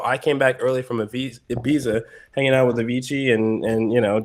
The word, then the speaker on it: Ibiza: I just came back from Ibiza, or Ibiza is how it's normally pronounced.